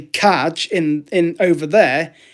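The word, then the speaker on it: čaj: If you go into a cafe in Prague, which I did, and you ask for kaj, which is spelt C-A-J, that's English, in English, that's tea.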